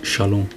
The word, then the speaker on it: shalom: እዛ ሰላም እዚኣ ሻሎም እያ ትብል Den här friden uttalas shalom.